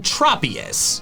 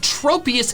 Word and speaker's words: Tropius: Its name comes from tropical and saurus, hence the short O in tropius. However, I have called it tropius into adulthood since I thought the first part of its name didn't come from tropical, but tropism.